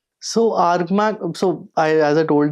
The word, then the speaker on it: ARGMAC: So it's spelled like argammanac but you pronounce it as argmac.